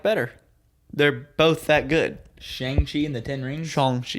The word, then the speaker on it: Shang-Chi: Shang-Chi and the Ten Rings? Shang-Chi is actually how it's pronounced.